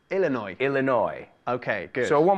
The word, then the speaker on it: Illinois: It's Illinois, the S, we don't pronounce the S. Ah, Illinois, like annoy.